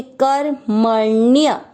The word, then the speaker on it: कर्मण्य: साथ पढ़ेंगे कर, म में अ मिक्स करेंगे कर मण्य ण्य, आधा अण है तो उसको पढ़ेंगे ण्य, और य में अ मिक्स कर दिया कर्मण्य।